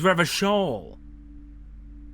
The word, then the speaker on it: Revachol: Oh, I've been pronouncing it all wrong. Is Revachol.